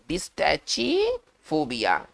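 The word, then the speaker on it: Dystychiphobia: इसको पढ़ेंगे, कैसे पढ़ेंगे, इसको पढ़ेंगे डिस, है ना, टाइचिफोबिया, डिस्टैचिफोबिया। चलिए भाई ये कैसा फोबिया है, थोड़ा सा उच्चारण में थोड़ा सा आपको थोड़ा सा संभल कर पढ़ना होगा। इसको पढ़ेंगे डिस्टेचिफोबिया, इसको पढ़ा जाएगा डिस्टेचिफोबिया, ठीक है ना।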